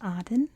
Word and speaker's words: Aden: the world it's pronounced Auden so you don't need to leave comments or anything but in British English and I believe in American English it's pronounced Aiden and I'm from America